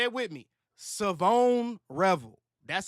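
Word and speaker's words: Shavon Revel: Even uh uh I'm going say it right this time. Was it Savon? No. No. Savone Revel. Savone. That's what it is.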